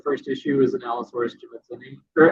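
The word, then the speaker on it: jimmadseni: I didn't make the so the Allosaurus in the first issue is an Allosaurus jimitsoni. Or how do you pronounce it? Well, Jim Madsen, so I pronounce it Jim Madsoni.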